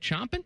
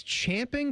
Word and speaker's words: champing: Chomping. Champing. I think it's champing, but chomping could be acceptable, too.